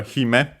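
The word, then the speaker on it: 姫: Then we have hime, accented on the first syllable on its own.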